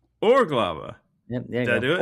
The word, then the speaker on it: Urglaawe: It is the Urglaawe tradition. Put the stress on the first syllable and you're close. Urglaawe. Urglaawe.